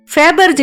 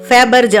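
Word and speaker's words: Fabergé: இத ஒவ்வொரு நாட்டிலையும் ஒவ்வொரு மாதிரி உச்சரிப்பாங்க. ஃபேபர்ஜ் அப்படிங்கறது அமெரிக்க உச்சரிப்பு, ஃபேபர்ஜே அப்படின்னா பிரிட்டிஷ் இங்கிலீஷ், நம்ம இந்திய ஆங்கிலப்படி ஃபேபர்ஜி அப்படின்னு சொல்லுவோம்னு வச்சுக்கோங்களேன்.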